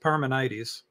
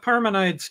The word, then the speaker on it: Parmenides: My understanding is what you're reading of, and I've always heard it pronounced Parmenides, is that Parmenides was making an argument against the existence of God.